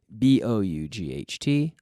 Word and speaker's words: bought: I have bought bought B ough T bought pronounced almost like Bo T bought bought it rhymes with the word not and hot and also other irregular